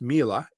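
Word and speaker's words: Miele: if you haven't heard of it it's it's pronounced mila but it's spelled m-i-e-l-e so if anybody's heard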